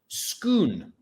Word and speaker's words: Scone: so inside the chair is the stone of schoon which is spelled scone or scone we now have a